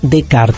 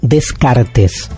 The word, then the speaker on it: Descartes: de rené de carta rené de kart se escribe descartes está todo bien si usted dice descartes bréard nada cayese de kart esto pasa con los idiomas uno debería de algún modo hacer un esfuerzo y respetar el modo en que